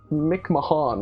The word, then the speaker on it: McMahon: It's not spelt Vince McMahon, No, but it sounds like it. It's spelt like Mick Mahan or something.